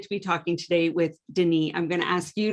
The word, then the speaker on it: Denis: little bit more about you denise and pronouncing your name correctly because i just tried and didn't do a good job sure can so my name is denis um what do i